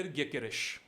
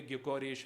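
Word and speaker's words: Gyökeres: That is Victor ग्योकेरेश। Sporting Lisbon के striker Victor ग्योकेरेश, आप किसी भी प्रोनाउंसिएशन में शायद बोलते होंगे ग्योकोरेश एंड ऑल दैट, ये सब, बट the exact pronunciation is Victor ग्योकेरेश।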